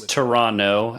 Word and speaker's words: Toronto: It's Toronto, actually, Grant. The T is silent. Yeah.